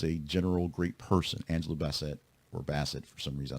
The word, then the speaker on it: Bassett: 16th of August also Angela bassette or Basset if you actually want to say her name properly she's 66 years old